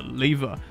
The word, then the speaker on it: lever: can't pull down the lever? That's right, I said lever, not lever.